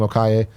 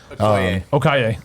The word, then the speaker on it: Okoye: and it's, how do you say her name? Okaye? Okoye. Okoye. Okoye.